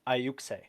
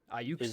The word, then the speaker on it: Ayuxi: it's pronounced Ayuxe. Ayuxe. Is what Google is telling me.